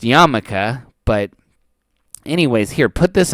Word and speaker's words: yarmulke: It's a yarmulke. Well, it's a nipple cover. It would act as that, and then we're gonna get into it. It is actually pronounced yarmulke, but anyways, here, put this on.